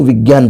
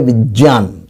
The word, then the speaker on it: विज्ञान: कई लोग, ज़्यादातर लोग, हम सभी इसको विज्ञान पढ़ते हैं, वास्तव में ये इसका उच्चारण है विज्ञान।